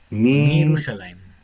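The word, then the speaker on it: מירושלים: Claro, aquí no sería Y, porque ya no está el Y. Mi Mirushalayim. Mirushalayim. No, si uno se pone a pensar, cambia harto la palabra.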